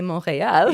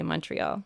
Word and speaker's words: Montreal: be correct, you'll say Montreal. Yeah, that's right. But if you want to be understood by an English speaker, you'll say Montreal. Yeah. I mean, an English speaker would understand either way.